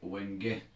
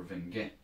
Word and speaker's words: wenge: And the large chunk you can see at the back on the right is a large piece of wenge or venge, depending how you pronounce it.